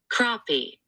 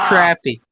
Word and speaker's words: crappie: no crap I mean ask Siri how do you pronounce crappie she said crappy way to go Siri we won right there buddy she said crappy crappy no matter how many times